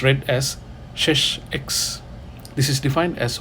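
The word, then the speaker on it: sech: 1 / hyperbolic sin x then we Define shes X hyperbolic secant x which you write as s e CH X it's read as shes X this is defined as 1 / Kos x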